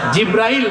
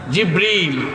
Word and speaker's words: জিবরীল: সেই ফেরেশতার নাম কি জিব্রাইল জিব্রাইল না জিবরীল একটু সঠিক প্রোনাউন্সিয়েশনটা আপনারা শিখে যান ওই ফেরেশতার নাম হচ্ছে জিবরীল ফেরেশতার নামটা কি জিবরীল